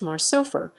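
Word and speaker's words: מר סופר: hebrew series rikov samsung his name is mr svpr phonetically pronounced marsupher which literally means mr counter in the mexican series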